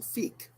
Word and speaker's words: Feek: Our next artist is John Feek. Rhymes with unique.